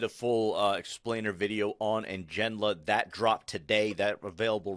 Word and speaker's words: Ngenla: And it's pronounced Ngenla.